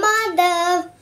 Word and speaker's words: Madhav: M-A-D-H-A-V.